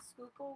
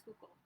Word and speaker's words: Schuylkill: humidity there, because there's the Schuylkill River and then the Delaware. How do you spell Schuylkill? Can you spell It's Schuylkill?